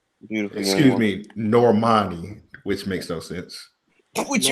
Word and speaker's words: Normani: Talking about Normandy? Yeah. Beautiful. young Excuse woman. me, Normani, which makes no sense. Which makes no sense. It's spelled Normandy, but it's like, no, it's Normani.